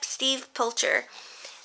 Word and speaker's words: Steve Pilcher: This is done in pencil, and I think this is by, Steve Pilcher.